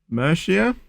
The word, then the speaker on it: Murcia: the moment, just out of interest, we're in Murcia, so that's how you pronounce it, in Spain, and we're going to be going all the way to Porto in Portugal.